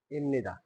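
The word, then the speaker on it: 입니다: জনন জনন সুহান ইন্নিদা ইমনিদা ইমনিদা কেন হয়েছে এই ভিউপের পরে যদি নিয়ন থাকে তাহলে ভিউপের উচ্চারণ পর মতো না হয়ে ম এর মত হয় কারণে এটা হইছে এখন এটা এখানে যে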